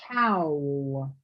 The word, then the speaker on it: towel: Um, you're saying it in two syllables. You're saying towel. It It's just towel.